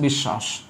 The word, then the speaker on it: বিশ্বাস: এবার তালব্য আছে ডাবল, তাহলে তালব্য বফলা যার সাথে আছে তার উচ্চারণ ডাবল, মানে তালব্য উচ্চারণ কি হবে, ডাবল হবে, বফলা কিন্তু না। এই দেখো বিষ, আবার দেখো সা, আর দ্বন্দ্ব শাখা আছে, তালব্য হবে, এই হচ্ছে বিশ্বাস।